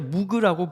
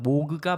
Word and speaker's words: 모그: 모그 모듈라 신서사이저 있니다 흔히들 무라고 리 부르는 그것입니다 그러나 발음 기호 상으로는 모그가 맞다고 하네요 1964년 로버트 모그 박사에